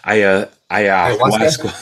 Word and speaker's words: ayahuasca: Ayahuasca.